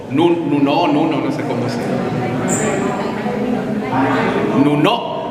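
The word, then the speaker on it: Nunó: no sé cómo se Nuno, con acento en la última O, sílaba tónica en la última sílaba.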